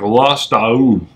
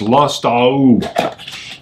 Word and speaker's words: Lustau: get in there because it's spelled like lost ow mmm so that's how we know it went on as the rib breast lost all so of course is list ow maybe we're still not pronouncing that perfectly I had